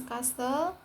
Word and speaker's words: castle: T is silent in words ending "stle", such as castle becomes castle, whistle becomes whistle, wrestle becomes press, and thistle becomes thistle.